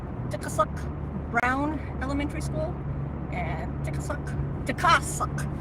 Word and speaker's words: Tikasuk: It's a Tikasuk Brown Elementary School, and Tikasuk. That's how my grandma taught me to say it. Tikasuk. Because I said family member. Tikasuk. Gotta say it correctly.